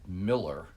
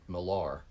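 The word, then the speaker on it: Millar: as kenneth miller uh who he actually pronounced it miller but margaret maggie his wife pronounced it milar which tells you a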